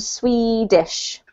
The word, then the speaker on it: Swedish: So this particular country name in English has a long E sound, pronounced Sweden and Swedish.